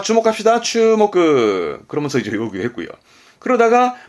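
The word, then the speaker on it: 注目: 그래서 주목의 추목그.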